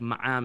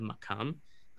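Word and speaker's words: maqam: and then Vad, Kof, but in the Syrian dialect, most often, the kof is not pronounced at all. It's treated like an aleph. So you get words like ma'am instead of makam.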